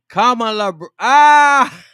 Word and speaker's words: Kamala: the interview uh yes yes yes yes it's pronounced Kamal ah it's pronounced Kamala bro yes okay I got